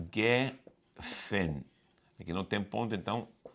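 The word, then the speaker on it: גפן: O Geffen em hebraico, Geffen, que é o G aqui esse não se pronuncia como R, não aparece como J. É Geffen.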